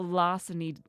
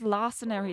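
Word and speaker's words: larceny: The lasseny. I nearly said lassenary again.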